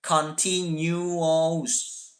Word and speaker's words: continuous: yang keempat adalah continuos bukan continuous ya tapi cara bacanya counting you wow bright continuous itu punya